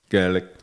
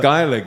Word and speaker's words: Gaelic: go to Ireland there, is it Gelick or Gaelic football? Um, Gaelic. Gaelic. There you go. Thank you. Uh, I need to cue you for all the the pronunciation help. But Gaelic is us is also correct.